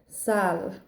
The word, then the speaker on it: Saille: Sal, which is actually my nickname, which is funny enough. But this is spelled Saille, which is the Irish for the willow tree.